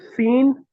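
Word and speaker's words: سين: So Seen is a flat letter. Fad, on the contrary, is a high letter. Whenever you pronounce Seen, just pronounce it as the English S with the whistle sound.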